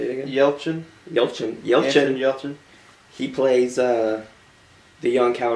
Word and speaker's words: Yelchin: Anton Yelchin.